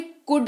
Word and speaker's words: could: अगला शब्द है सका, जिसका इस्तेमाल होता है कुड के तौर पर, COULD, लेकिन L जो है साइलेंट रहता है, तो ये कुड कहलाता है।